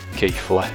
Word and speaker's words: Keighley: Keighley.